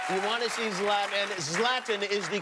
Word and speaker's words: Zlatan: the stubhub center you want to see zlatan zlatan is the correct pronunciation yes love them thank you very much